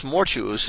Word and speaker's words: mortuus: For thus mortuus is pronounced like fatuus, arduus, conspicuous, and similar words, which are not perfect participles but adjectives, and are declined without regard to tense.